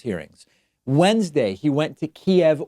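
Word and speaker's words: Kyiv: Wednesday he went to Kiev or Kiev as we are now told is the Ukrainian pronunciation went to keep Ukraine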